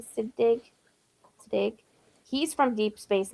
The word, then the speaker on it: Siddig: How do you pronounce his last name? Siddig.